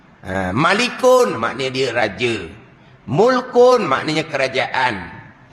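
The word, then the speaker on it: مُلْك: kepunyaan milik milik kepunyaan ejaan dia sama mim lam Kaf tiga huruf baris dia lain makna dia lain nak baca baris macam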